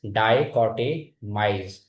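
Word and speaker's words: dichotomize: So the pronunciation is dicotmise.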